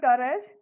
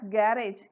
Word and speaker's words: garage: Students, underline the word garage. Here we should not pronounce it as garage. It is a garage.